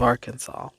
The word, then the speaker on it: Arkansas: only correct pronunciation of Arkansas. It should be pronounced in three syllables with the final S silent.